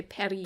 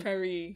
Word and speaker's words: Paris: it like parth but since he has a French accent he in fact would not say that he would say Perry Perry there would be no s in it so it's extremely funny